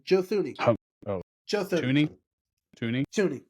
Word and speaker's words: Thuney: Tooney? Yeah, Tooney, not Thuney. The H is silent.